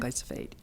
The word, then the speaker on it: glyphosate: if I can say it right this time, glyphosate. Did I get it? Biphosphate? Yeah, phosphate. Roundup, Yeah. glyphosate.